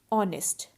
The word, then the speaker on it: honest: orange and umbrella and honest man and our now notice the word our and honest so in both these words h is silent so our and honest